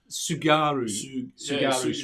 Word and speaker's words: Tsugaru: So we've still got the Catalina Channel and the, how do you pronounce the last one? Just Tsugaru Strait.